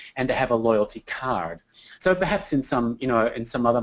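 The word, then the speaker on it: 卡: So that Chinese character pronounced ka means card, and the standard Chinese term for a loyalty card is a VIP card.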